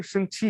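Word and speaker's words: Shang-Chi: But otherwise, they say how they pronounce it in the movie. They say Shang Chi, right?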